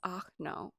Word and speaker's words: Arno: cute his name was achno and it was spelled like arno but you had to say it like oh no oh my god and